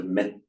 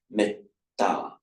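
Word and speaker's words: mettā: So either the e is pronounced short, but it's got a double consonant after it. Therefore, the entire syllable is heavy. Metta.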